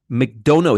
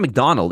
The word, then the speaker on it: McDonough: And by the way, Christopher McDonough, I'm sorry if I'm mispronouncing your name. McDonough, McDonough. It's not McDonald. It's McDonough.